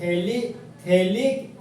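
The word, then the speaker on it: phthalic: जहां पर दोस्त पीएच हमारा साइलेंट होता है, तो इस कंपाउंड को पढ़ते दोस्त थैलिक एसिड, पीएच का यहाँ पर उच्चारण नहीं होता है।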